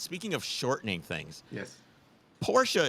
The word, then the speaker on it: Porsche: of shortening things yes Porsche is two syllables correct how do you feel